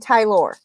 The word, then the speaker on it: Tylor: Trevor and Tylor. Yes. And that's how you say his name, Tylor.